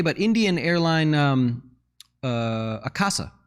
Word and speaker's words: Akasa: indian airline um uh akasa i think they're called it casa is how you say it in casa air